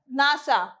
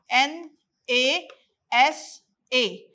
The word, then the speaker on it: NASA: noun phrase okay like nasa nasa is the short form n a s a we are not pronouncing it as n a s a we are pronouncing it as a word nasa okay so we call